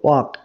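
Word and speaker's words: walk: হাঁটো ফাস্ট মানে দ্রুত তাহলে দেখো ওয়াক এই যে শব্দটা ডব্লিউ এ এল কে ওয়াক এই যে এল এই এল টা হচ্ছে সাইলেন্ট লেটার সাইলেন্ট লেটার তাহলে তাহলে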